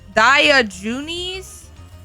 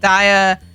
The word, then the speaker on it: Diogenes: Diogenes?